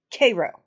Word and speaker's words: Cairo: Cairo yes it is but I promise you as someone who has lived in this part of the country near Koo Illinois most of my human existence I promise you it is pronounced Koo I don't know why it just is but she appears on